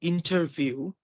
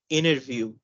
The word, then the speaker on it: interview: So instead of saying interview, we're going to say interview, Right.